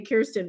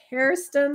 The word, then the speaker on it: Kerstin: niece named Kirsten and I have a tendency to say Kirsten but it's Kirsten like Care Bear and she does care